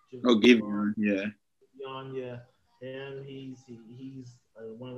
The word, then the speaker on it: Giveon: So I think them, some other people, Javon, I think that's how you say his name, Giveon. Giveon, yeah.